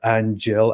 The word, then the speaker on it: Aanghel: So I'll just refer to it as Angel, I guess. I don't know. I want to go through his story, analyze why he converted to Islam, see what motivates people. Eric Alpine said it's pronounced like Angel.